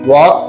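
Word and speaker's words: walk: वॉक में L silent है।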